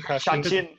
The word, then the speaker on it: Chachin: Chachin. Cha-ching. Think of cha-ching, Shawshan.